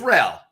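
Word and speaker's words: Raúl: So, Raul, how do you pronounce that? Am I pronouncing it right? Raul? Yeah, it's Ral. Ral. Raul. Okay. Yeah, this is like So Ralph where without were the PH.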